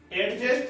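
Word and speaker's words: adjust: कि भाई साहब थोड़ा सा क्या कर लो, एडजस्ट या एडजस्ट। एडजस्ट हमेशा ए और जे के बीच में डी क्या रहेगा?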